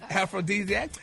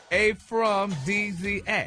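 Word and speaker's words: aphrodisiac: So, but anyway, it's aphrodesiac. And yeah, it's a noun and it's pronounced a from DZ.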